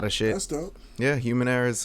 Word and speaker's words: HumanErraH: You can find his other artistic ventures under HumanErraH. That's human and era, like it's spelled era, ERA, but it sounds like error.